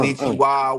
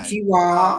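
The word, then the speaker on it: こんにちは: Konnichiwa, which is good evening or good So afternoon, say less.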